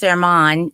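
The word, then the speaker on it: Germán: His name is Herman, but it's spelled German, German.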